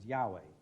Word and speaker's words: Yahweh: the lord why hwh which jews never pronounce catholics unfortunately have got into the habit of you know banning it about all over the places as yahweh and protestants as jehovah but actually